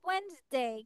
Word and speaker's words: Wednesday: ওয়েডনেসডে বলবো না, আমরা ওয়েডনেসডে বলবো না, আমরা বলবো ওয়েডনেসডে। কি বলবো? ওয়েডনেসডে। Wednesday. হ্যাঁ, ডি Wednesday. এর উচ্চারণ করা যাবে না, Wednesday.